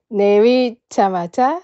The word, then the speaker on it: 내리자마자: 내리다 내리자마자 That's right. You pronounce it re, like R in English, but we don't have R, so make it L sound instead.